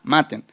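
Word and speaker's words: μάτην: viene la palabra maten, con acento en la A, maten, que significa búsqueda infructuosa.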